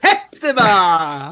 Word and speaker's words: Hepzibah: When they say Hua, has got half of YouTube apologizing to me when they pronounce it wrong. So now we're going to go with Hepzibah.